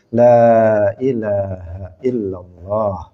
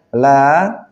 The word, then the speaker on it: لا إله إلا الله: kalimat tauhid ini kemudian Dia membacanya kliru misalnya lah dibaca pendek harusnya la ilahaillallah Dia membacanya dia mengatakan